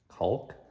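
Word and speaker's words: caulk: tube of C cul culk I think the L is silent it's a weird name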